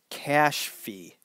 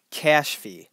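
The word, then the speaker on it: Kashfi: okay here we go it's spelled maybe you can help me out kay a s H F I cash fee okay maybe if you say it's slow enough it works better cash fee I'll have to practice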